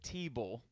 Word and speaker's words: Thibault: And if you pronounce Mr. Tricole or Monsieur Tricole's first name, Thibault, then the first thing 50. that Dan's going to think of is the former quarterback of the Denver Broncos, Tim Thibault.